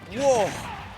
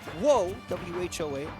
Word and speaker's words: whoa: used enough that w08 w-o-a-h is widely accepted however I would pronounce that as whoa and whoa whoa I would say is the correct spelling this is the uh